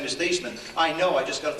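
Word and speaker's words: Theismann: we think by just simply changing the pronunciation of your last name from thian to thyman to rhyme with Heisman we can guarantee you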